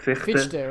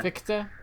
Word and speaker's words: Fichte: Fichte, right? Fichte, yeah. Fichte. I say Fichte because, like, it's Fichte, and I'm American, so it's just like, oh, this is obviously Fichte, right?